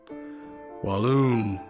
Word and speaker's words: Walloon: And sometimes I have to correct them about the pronunciation, Walloon.